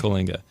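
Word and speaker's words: Coalinga: that c well yeah how you spell it and how you say it are two different things but um c o a l i n g a okay Kinga and 93210 and um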